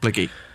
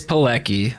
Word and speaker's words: Pilecki: name has been blicky is that how you say it yeah okay so i it's it's it's pilecki like how it is on instagram but the reason my name